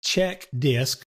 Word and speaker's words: CHKDSK: the check disk command is another one of those commands that's been around since the dolls days and notice that i pronounced this check disk and what this little